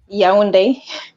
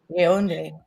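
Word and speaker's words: Yaoundé: But not only that, but just also born in, how do you pronounce it? Yaounde, Cameroon. Yaounde. Yaounde.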